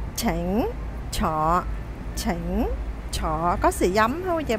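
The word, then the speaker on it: 請坐: Không đọc xỉnh, không đọc tỉnh, không đọc thỉnh mà là chỉnh. Tương tự, không đọc sọ, không đọc tọ, không đọc thọ mà là chọ.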